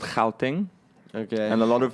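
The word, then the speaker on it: Gauteng: an Afrikaans word yeah that's actually replace it's spelled like Vee much the province I'm from it's called how thing ok and a lot of feel like this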